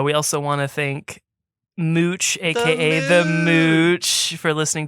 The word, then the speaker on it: Mooch: it right man and mooch confirmed to me one-on-one yes you got it right it's it's mooch like smooch yeah dude so love